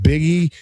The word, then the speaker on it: Buege: Jeff Buege, pronounced Biggie.